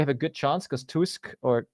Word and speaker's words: Tusk: Poland next, I think we have a good chance because Tusk, I never know how to pronounce him. Do you know? Say Tusk, yeah.